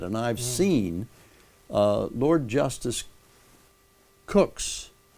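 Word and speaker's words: Coke: And I've seen Lord Justice Cook's, spelled C-O-K-E, but pronounced Cook, his own code of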